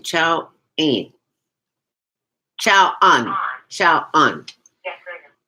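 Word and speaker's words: Qiao'an: Well, phonetically, it's Qiao, which is like pronounced as chow as in chow mein noodle. Okay. So, and an, it's A-N. A-N, chow an.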